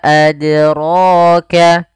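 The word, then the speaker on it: أدراك: Yang pertama tidak memantulkan adraka atau menambahkan hamzah adraka. Ini kurang tepat, harusnya mengalir saja. Wa ma adraka.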